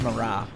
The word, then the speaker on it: Marat: hello Marat Marat Marat I'm thinking of the French Revolution era artist which I think it's pronounced Marah how about a Rhys